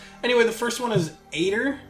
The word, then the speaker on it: Eitr: Anyway, the first one is Aitor, I think is how it's pronounced. E-I-T-R. Aitor, whatever.